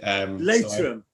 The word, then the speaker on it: Leitrim: Right, so Kieran from am I pronouncing the Leitrim? Yeah, exactly. Leitrim.